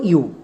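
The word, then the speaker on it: you: ওয়ার্ডের উচ্চারণটা দাড়ালো ইয়াও এটা আমাদের একদমই ভুল উচ্চারণ আমরা এরকমই উচ্চারণ করি তাই আমাদের রিডিংটা ভুল হয় এখানে আমাদের এর উচ্চারণটা ইউ হবে কেন কারণ এটা হচ্ছে সাইট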